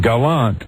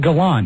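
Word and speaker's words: Galant: But it's Mitsubishi Gallant, not Gallant, right? It's Mitsubishi Gallant. But do they spell it the same way? I believe so. The dictionary says it can be pronounced either way, but their preferred pronunciation is Gallant.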